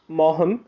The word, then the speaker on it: Maugham: All right, Maugham spelling है लेकिन मॉ का जी वो साइलेंट हो जाता है, तो William Somerset मॉहम from 1874 to 1965 was a distinguished British playwright, novelist, and a short story writer.